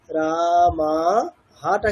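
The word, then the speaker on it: রামঃ: রামা দুটো উচ্চারণ হবে দীর্ঘ। রামা হাটা কিন্তু আর দীর্ঘ হবে না। এরকম না। রামাহা এরকম রামাহা।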